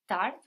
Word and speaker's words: tard: for late like tardy tart good but what happened to that last D this letter doesn't sound yes its silent right just like the